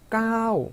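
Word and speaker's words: เก้า: 그러다 보니까 발음을 짧게 해야 되지만 보니까 장모음 표기가 돼 있고 태국 분들은 이 숫자 9를 발음하실 때는 너나 나나 할 것 없이 다 길게 발음하십니다. 그래서 9를 이렇게 까오 하고 길게 발음하셔야 되고요.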